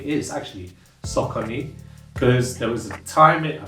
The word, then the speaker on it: Saucony: out but the pronoun the um way it's pronounced s is actually sakoni because there was time I think it was